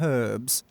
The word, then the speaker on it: herbs: chi-chi she's out gathering herbs uh no she's in my party and it's herbs not herbs herbs the h is silent my unfair man does